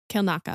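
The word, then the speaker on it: Kelnacca: now we have Kila she says kill Naka yeah Kil Naka oh it's like an i a you know or like IE kill Naka um emphasis on the first syllable um what are we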